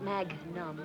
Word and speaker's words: magnum: Why don't you stick with what you've been drinking, Charlie, and it's pronounced magnum.